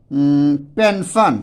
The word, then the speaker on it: pension: जैसे देख लीजिए, हम एक लिख दे रहे हैं पेंशन, ठीक है, पेंशन, यहाँ पर लीजिए पेंशन, PENSION, ठीक है, इसको हम लोग क्या पढ़ते हैं, पेंशन।